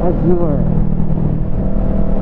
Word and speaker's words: Azure: It's Azure.